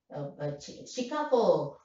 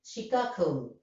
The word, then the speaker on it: Chicago: That is, as usual, you know, we all non-native speakers stressing the first syllable. Chicago. The lady couldn't follow, then saw the ticket, then understood. Oh, I see. You want to go to that boarding gate bound for Chicago. Chicago. She stresses the second syllable.